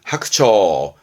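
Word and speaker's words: 白鳥: 발음은 하크처.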